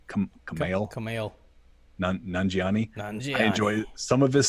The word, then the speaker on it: Kumail Nanjiani: I love Kamal, or did I say his name right? Kumail Nanjiani.